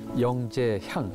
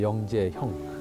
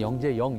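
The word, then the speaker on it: 영제형: 이름 다 있었죠고 있잖아요 이분은 영제 향 향이라고 됐는데 사실 저 향자 발음이 향으로 할 수도 있어요 그러나 형이 형으로 해야 정상적인 바 그래서 영제 형 아 근데 보통 한국에서는 영재영 영재영 그랬어요 근데 영 아니고 이의 온전한 성함은 영제 형이에요 아 이제 그렇게 이제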